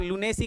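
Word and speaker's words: lunacy: करेंगे बेटा, है ना, लू का राइट प्रोनाउंस हम करेंगे लू, तो सर ये हो गया लू, और फिर नेसी के याद से, वैसे नेसी नहीं है नसी लिखा हुआ, लू नसी, लू नसी,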